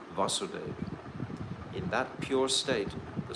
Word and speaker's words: Vasudeva: any covering, is called Vasudeva. In that pure state, the Supreme Godhead, who is beyond the material senses and who is known as Vasudeva, you see one has a long A and one doesn't, is perceived by my mind.